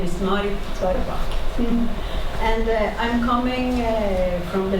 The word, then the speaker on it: Tveraabak: Tveraabak. She's telling me how to pronounce her name. Tveraabak, yes.